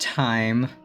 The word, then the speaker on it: thyme: And I don't know if that's pronounced time or thyme. I'm pretty sure it's pronounced time. Even with the H in it.